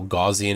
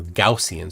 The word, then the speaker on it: Gaussian: I got got to just in case you don't know gajian is the wrong pronunciation it's goian or gaussian sorry he's I've heard